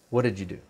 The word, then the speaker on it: what did you do: today for listening because I noticed you study this what did you do but we pronounce what did you do so there's a difference between what's written and what's spoken who did you where